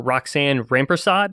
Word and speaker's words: Roxane Rampersad: so we have two guests on today Dr Roxanne rampersod am I pronouncing it correctly Roxanna that's correct yep okay